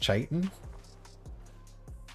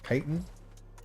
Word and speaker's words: chitin: I swapped from Molten Blood to regenerative, I believe this word is pronounced chitin? Chitin? Because it's like chitinous? I don't know.